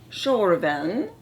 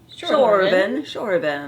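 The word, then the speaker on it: Tjorven: um her norwegian and scandinavian name is shorevan shorevan e t-j-o-r-v-e-n and i would have never guessed that's how you pronounce that word unless until i went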